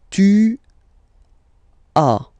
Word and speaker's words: tu as: Second one, tu as, okay. As usual in French, final s is not pronounced.